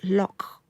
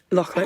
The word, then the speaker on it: Loch: And I have to say it right. It's Loch. Loch. Yeah, Loch. Your husband will be my husband you.